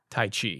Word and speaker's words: tai chi: Tai chi.